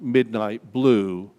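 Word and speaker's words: mydnytblu: smell touch taste and hearing there's a website pronounced midnight blue but the url is my d n y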